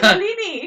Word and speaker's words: Malini: The film was critically acclaimed, especially for the on-screen chemistry between Bachchan and Malini. So Malini. yeah, so I said it right, and You said Malini.